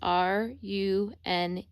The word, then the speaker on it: runes: you spell runes is R-U-N-E-S. Sometimes they say it like ruins or something, but it's runes.